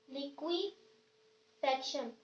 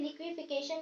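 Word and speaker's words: liquefaction: दूसरा मेथड है हमारे पास लिक्विफेक्शन। कुछ लोग इसे लिक्विफिकेशन भी कहते हैं, जबकि ये होता है लिक्विफेक्शन है, इसकी सही प्रोनाउंसिएशन ये है।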